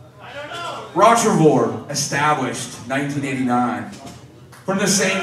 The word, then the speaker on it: Rottrevore: How many, if you heard different pronunciations, it's pronounced Rottrevore.